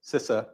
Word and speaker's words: CISA: So there's a little sort of, I think something on Twitter about, how do you pronounce it? And it's CISA. It's CISA.